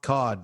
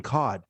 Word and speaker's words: Kade: yeah they keep saying cod but it's spelt k-a-d-e so i'm like okay some